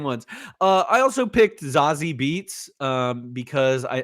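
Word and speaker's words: Zazie Beetz: Uh I also picked Zazi Beats um because I or Bates is actually how you pronounce her name.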